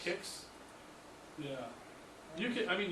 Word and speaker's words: Qix: that I had couldn't find was I think it had an emulator for was QIX, I think it's pronounced Kix. Kicks.